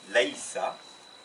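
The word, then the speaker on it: لَيْسَ: Donc d'abord, je ne suis pas lestu, tu n'es pas lesta, tu n'es pas féminin lesti, il n'est pas, donc c'est l'infinitif laïsa, c'est le seul où il n'y a rien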